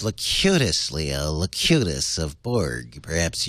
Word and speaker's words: Locutus: It's pronounced Locutus, Leo.